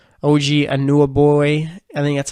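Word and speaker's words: Anunoby: two points 6 rebounds shot over 5 OG and knew a boy and that's how you pronounce his last name had 5 points when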